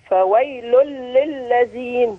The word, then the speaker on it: فويل للذين: فويل للذين، فويل للذين، ممتاز. يبقى مركنش عند اللام زي ما نطقنا كده ده، ونتدرب عليه مرة واثنين وثلاثة وتابعينا، ونسمعك في مرة جاية إن شاء الله بإذن الله.